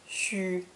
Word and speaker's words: 需: This character is pronounced first tone, xu, xu.